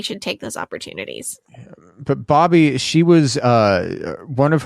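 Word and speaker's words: Bobye: Bobby Holt it's pronounced it's pronounced Bobby it's spelled b-o-b-y-e and all of the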